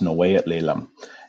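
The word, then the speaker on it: snəw̓eyəɬ leləm: This name here that is hard to read is pronounced Snowayat Lelam. And this means in the Musqueam or, you know, indigenous people in their language, it means the house of teachings.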